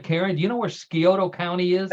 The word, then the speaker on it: Scioto: John and Karen, do you know where Scioto County is? I think it's Scioto, I think is how you pronounce Scioto.